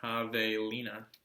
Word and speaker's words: javelina: Javelina, pronounced Javelina, comes from a Spanish